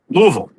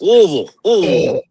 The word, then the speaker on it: Louisville: Yeah, I from what I've understood, it's as quickly as you can. That's right. It's very guttural. Very yeah, guttural. Yes. Louisville.